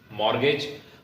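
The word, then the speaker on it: mortgage: संपत्ति के खिलाफ बढ़ते अपराध माना जाता है मॉर्गेज हम लोगों ने नार्मल यह शब्द सुना है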